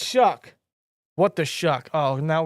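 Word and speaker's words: Shough: name I get it the GH his last name looks like it's pronounced Suge sh Tyler Shug Suge I don't freaking know what the sh so it's shuck what the shuck oh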